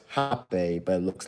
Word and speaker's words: rapé: last week talking about hop a snuff is pronounced hot bay but it looks like it looks like a rape but it's pronounced hot pay if y'all are